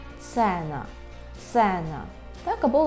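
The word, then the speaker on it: cena: російською мовою, тому що «е» вимовляється у польській мові завжди як «е», це ніколи не «є», це завжди «е». Наприклад, екран, екран, так? Екран, екран, цена, цена, так? Це ніколи не ціна, а цена, е, цена, цена, так?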